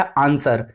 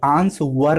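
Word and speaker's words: answer: इसी तरह आंसर, आंसर में हमारा क्या होता है, डब्लू की आवाज नहीं होती, आंस वर नहीं होता, आंसर होता है, आंस वर नहीं होता, आंसर होता है।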